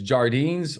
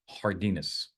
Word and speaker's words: Jardines: our curtilage right and Sean says jardines or is it hardas right I actually have been saying jardines for many many years because I don't speak Spanish I don't know sometimes how to pronounce it but I got to tell you I've been corrected and I'm going to now do the right thing and say it correctly Sean it's hardus okay so um Jonathan